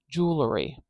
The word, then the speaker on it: jewelry: jewelry like jewelry or do you say jewelry jewelry it's actually hard for me to say it without that little schah in there maybe I do say it like this jewelry jewelry jewelry now there's two ways to say it and I think